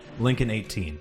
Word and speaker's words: Linkon: $1 donation from Linkon18, saying, you might know my origins of my name, but it's actually pronounced like you have done before. Lincoln18.